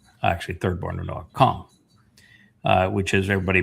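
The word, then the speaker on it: Cham: Kam, which is everybody pronounces it as Ham, but it's a C-H-A-M.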